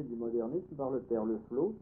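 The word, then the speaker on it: Le Floch: Il y avait un très bon résumé du modernisme par le père Leflot, ça s'écrit Leflot en deux mots, FLOCH, un nom breton en deux syllabes.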